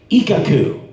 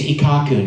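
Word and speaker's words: Ikkaku: ikaku from Bleach right ikaku stress on the first syllable ikaku right that's what they told me when we started the show and then 300 episodes later the director goes okay it's ikaku now I'm like what what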